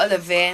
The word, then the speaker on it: Ollivierre: If I related to Ollivierre in San Juan, no.